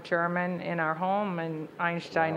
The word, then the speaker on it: Einstein: in our home and Einstein is the correct way to say it so are you a